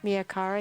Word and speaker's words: Mia Cara: in my own head very awesome we have Mia Cara here am i pronouncing your name right yes Mia Cara here looking at her work and we're gonna